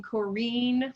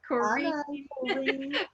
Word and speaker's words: Corinne: Well, in my part of West Texas, we would pronounce her name Corrine, like rhymes with Jolene. Corrine.